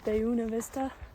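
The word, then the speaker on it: Buena Vista: when I get to Buista or apparently they pronounce it Beuna Vista.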